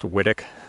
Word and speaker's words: Whitwick: So this is Whittick Pippin. It's spelled Whitwick, but Nigel Deacon says it's pronounced Whittick.